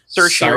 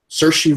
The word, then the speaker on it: Saoirse: But they did it specifically, and I can never pronounce her name properly. Saoirse Ronan. Saoirse Ronan.